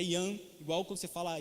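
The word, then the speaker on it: Jan: a língua é a língua checa ea língua pronúncia é e arroz igual nome é joão mas é ian igual com você falar e hannes né ii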